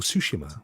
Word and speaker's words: Tsushima: I've just picked up even Ghost of Tsushima, or Tsushima, which is actually how it's supposed to be pronounced.